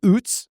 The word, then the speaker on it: Oots: They used rookie Robbie Oots, which rhymes with Poots, as a fullback.